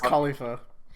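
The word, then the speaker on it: Kalifa: It's Khalifa. Oh. Which is really close, actually. No, Khalifa.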